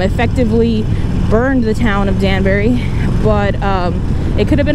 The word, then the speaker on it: Danbury: So a lot of what I heard and researched was Danbury was the pronunciation, even though it's spelled D-A-N-B-U-R-Y. So I'm tempted to say Danbury, but it's Danbury.